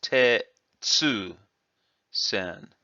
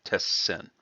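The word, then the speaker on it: 鉄扇: and didn't realize this, may have read this as Tetsu sen. It's only kind of a theory, but it makes sense that someone would look at that and say, "Oh yeah, Tetsu sen," and that's why it was written that way. But it really should be Tessen.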